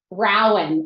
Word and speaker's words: Rowan: So we have Julia Rawlings, who is the assistant superintendent in, I'm gonna mispronounce this. Is it Rowan? No, it's, how do you say? Rowan.